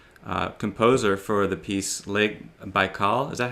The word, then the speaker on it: Baikal: And some of your more contemporary works, I know you said in the live chat that the composer for the piece Lake Baikal, is that how you say it?